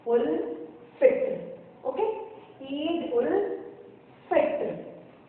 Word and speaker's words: Fitr: Okay, Eid ul Fitr. F-I-T-R is Fitr.